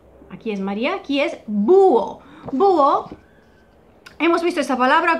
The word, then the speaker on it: búho: diptongo originario que ya, como la vocal tónica es la U, ya se ha transformado en hiato, se divide en dos sílabas, búho.